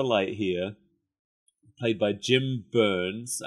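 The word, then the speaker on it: Byrnes: Light here, played by Jim Burns. I think it's pronounced Burns. It's like Byerns. Oh, yeah.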